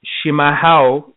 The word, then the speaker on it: chimarrão: Another trend that's kind of taking place right now is Brazilian yerba mate called chimarrão. Chimarrão. It's spelled Chimarrao, and the A has a little tilde over it.